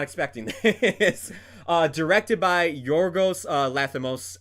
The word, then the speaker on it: Yorgos Lanthimos: Directed by Yorgos Lanthimos. I might mispronounce his name there. Steve, correct me if I am. That's how you pronounce it.